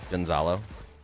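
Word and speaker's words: Gonçalo: Gonzalo. Gonzalo? Where's the Z? It's the language. The C has a little character on it.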